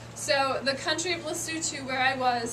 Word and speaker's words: Lesotho: It is pronounced Lesotho, not Lesotho. A lot of people pronounce it incorrectly, but that's okay.